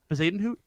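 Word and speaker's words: Bezuidenhout: don't know how to spell it i will spell it for you right now like without even looking at anything b-e-z-i-u-i-d-e-n-h-o-u-t zaden hoot ding you that's correct do i win the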